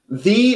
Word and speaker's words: thee: And also it rhymes with free.